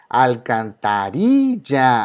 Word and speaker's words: alcantarilla: Alcantarilla. Alcantarilla. La palabra ri es la que suena más fuerte.